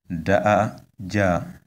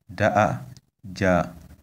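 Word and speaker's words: daja: This word is pronounced da ja, da ja. You can see that on the three first vowels we have high tones, and it means we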